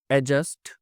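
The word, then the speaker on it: adjust: चलिए, for example, एडजस्ट, देखिए डी इसमें साइलेंट होता है, तो यहाँ पे खाली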